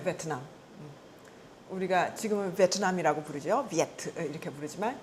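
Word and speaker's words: 越: 비에트 이렇게 부르지만 그것의 원래 글자가 뭐예요? 월. 응? 우리가 그 초월한다, 뛰어넘는다라고 하는 월자. 응? 그 월자를 우리는 월이라고 읽죠. 중국 뭐라고 읽어요? 유에. 예, 유에라고 읽죠. 월남에서는 비에트라고 읽는 거죠. 같은 글자예요. 같은 글자를 그렇게 서로 다른 음으로 읽는 거죠.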